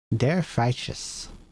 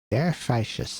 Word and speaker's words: Der Freischütz: How the hell do I pronounce this? Der Freischütz. Der Freischütz.